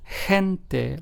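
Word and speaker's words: gente: followed by for instance if the letter G is followed by the letter e then it is pronounced as the H so kente g n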